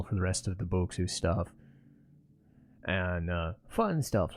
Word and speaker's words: Bokksu: I like to go Bokksu, just pronunciation wise.